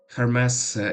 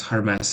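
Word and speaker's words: Hermès: As long as I know, it's Hermes, because Hermes is the pronunciation of that bougie clothing brand.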